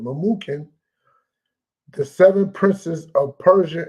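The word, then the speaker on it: Memucan: tarish MZ Marina and mukan mukin that's how you pronounce it mukin the seven princes of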